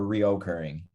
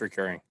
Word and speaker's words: recurring: Is it recurring or reoccurring? How do you spell that word? There's no O in it. Yeah. Yeah, it's recurring.